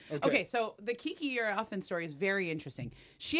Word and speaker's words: Iriafen: So this player that plays at USC, Kiki, how do you pronounce her last name? Iriafen.